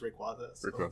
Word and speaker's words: Rayquaza: Um, in the anime, well, I guess in the movies specifically, they call him Rayquaza. Uh, now most people take the anime to be like the canonical pronunciations, but it's Rayquaza.